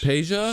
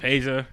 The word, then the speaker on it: Peja: Peja? Stojakovic. Oh, I was about Peja.